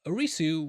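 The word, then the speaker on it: アリス: Well, Arisu was actually the Alice for the three seasons. This is because the Japanese pronunciation of Alice isu.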